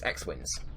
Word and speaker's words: XWins: It's like XWYNNS. So yes, it's XWins.